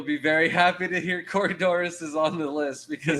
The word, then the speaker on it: Corydoras: i'm sorry doctor and it's pronounced corydora dr anthony corydora no s ever ah so next one